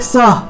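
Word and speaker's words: सः: যদি যিনি দেহ ত্যাগ করেছেন তিনি যদি পুরুষ হয়ে থাকেন সেই ক্ষেত্রে আমরা সহ গচ্ছতু, বিসর্গ উচ্চারণ হ তাহলে সহ, এভাবে সহ গচ্ছতু, সহ গচ্ছতু, এটা হলো পুরুষদের ক্ষেত্রে, পুরুষদের ক্ষেত্রে, ঠিক আছে?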